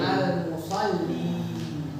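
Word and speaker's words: المصلّي: Kalau ada alif lamnya bacanya gimana? Almus. Almusoli. Almusolli ya kan.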